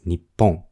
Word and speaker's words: 日本: that person is polider nihong Japan it can also be pronounced as Nippon Jing used to indicate